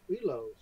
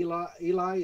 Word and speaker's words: Eloi: No, he runs into the Elos. Elos, okay. The Eloi, is it Eloi?